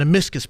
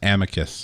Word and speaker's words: amicus: the eff filed an amiscus brief which basically says they went through and said we filed this thing in in support of this guy did I mispronounce something it's Amicus Amicus brief they basically say we're